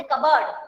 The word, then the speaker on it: cupboard: P is silent in this word. P is silent। हम कबर्ड नहीं बोलते कभी भी, हम बोलते कबर्ड।